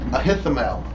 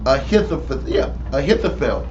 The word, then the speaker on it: Ahithophel: If Absalom would have listened to Ahithophel, I'm getting his name wrong. Ahithophel.